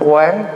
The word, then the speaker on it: Quán: So in Buddhist practice, we call this Bodhisattva Quán, Q-U-A-N, Thay, Avalokita. This is the pronunciation.